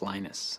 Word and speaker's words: Linus: venus torvalds came along linus or linus what's exactly your preferred pronunciation um when i speak swedish it's venus when i speak finnish it's linos when i speak english it's linus and i really don't